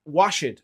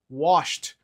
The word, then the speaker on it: washed: Outro exemplo é o wash, a gente vai adicionar o ed ao final, mas a pronúncia também não vai ficar washed, a gente vai falar washed.